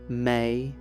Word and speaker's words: me: Consider the mysterious objects the Sumerianss called me, pronounced may.